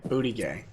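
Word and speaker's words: Buttigieg: name that's correct yeah it's the french pronunciation booty gay yeah well you know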